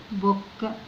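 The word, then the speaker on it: book: طيب الكلمة دي ننطق كده البي دبل او كي، ننطقهم مع بعض حركة البي ب، وراها او نضم، نضم البي، مش نفتحها ولا نكسرها، لا نضمها. بو دخلت على الكي، بوك، بوك اللي هو الكتاب.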